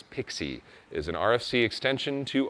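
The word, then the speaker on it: PKCE: Proof Key for Code Exchange, pronounced as Pixie, is an RFC extension to OAuth, and proof that you shouldn't let nerds pick names for things.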